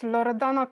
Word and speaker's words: Loredana: Yes, Loredana it's how I would pronounce my name in my native language.